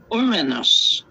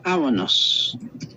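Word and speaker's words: Ouranos: The word translated air is Oranos. Oranos, if you want to, excuse me, if you want to know how that's spelled, is O as in hour, O-U-R, hour, and one word is A-N-O-S.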